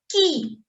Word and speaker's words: qui: It's qui, qui. It's like in English we have key.